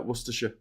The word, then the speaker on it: Worcestershire: Obviously, I said you've been in you've been in you've been here so long you can correctly pronounce uh Worersha.